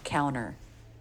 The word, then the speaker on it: counter: That's what he does here with counter becoming counter.